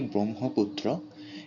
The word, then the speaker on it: ব্রহ্মপুত্র: যেমন ব্রহ্মপুত্র আমরা লিখলেও উচ্চারণ করি ব্রহ্মপুত্র।